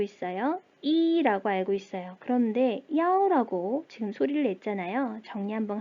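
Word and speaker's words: 一: 그런데 야오라고 지금 소리를 냈잖아요. 정리 한번 할게요. 숫자 1은요. 원래 2라고 발음을 합니다. 그런데 어떨 때 전화번호, 방번호, 노선 번호들을 읽을 때는 야오라고 발음을 한대요.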